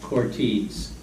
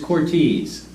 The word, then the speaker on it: Cortese: heard good things about Cortese by the way I asked Nicole the owner how to pronounce her last name because when people pronounce it anywhere from Cortes to court easy it is Cortese I called Cortese I